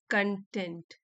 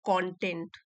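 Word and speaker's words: content: समझ लीजिए, इंपॉर्टेंट है, जब हम इस स्पेलिंग को एडजेक्टिव की तरह यूज करते हैं तो हम इसको प्रोनाउंस करेंगे कंटेंट, कंटेंट। ठीक है, और अगर हम इसी स्पेलिंग को नाउन की तरह यूज करेंगे तो हम बोलेंगे कंटेंट, कंटेंट।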